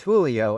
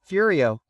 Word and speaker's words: Julio: My name was Julio and they called me Furio, because the J is a sound that they have trouble with, right?